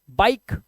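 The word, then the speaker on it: bike: जैसे fine, dine, mine, बाइक, site, ride, लाइक, माइक और nice. आई के बाद एक कॉन्सोनेंट और कॉन्सोनेंट के बाद ई लगा हुआ है, तो आई का उच्चारण आई ही होगा।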